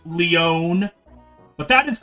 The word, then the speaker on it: Leon: from uh it's Stone it's pronounced Leone but that is correct